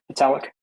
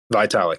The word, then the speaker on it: Vitalik: now what's the uh founder of um ethereum italic vitalik yeah he's even hyped up um ibc and